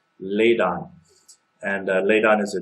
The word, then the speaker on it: Ladon: one working on which I believe is pronounced laid on and laid on is